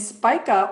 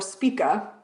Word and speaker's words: Spica: And Spica or Spica, different ways I've heard it pronounced, is a very beautiful star that is a lot connected with helping humanity thrive.